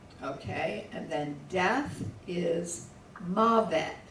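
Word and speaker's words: מָוֶת: Okay, and then death is mavet. There should be an accent on the first.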